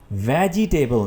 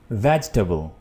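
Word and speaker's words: vegetable: वेजिटेबल नहीं है, वेजिटेबल।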